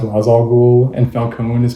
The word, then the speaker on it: Ra's al Ghul: Like, Ra's al Ghul is supposed to be pronounced Ra's al Ghul, and Falcone is pronounced like Falcone in this.